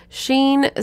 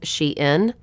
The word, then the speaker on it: Shein: Shein says that the pronunciation of their company name is Shein. Shein, like she is in style.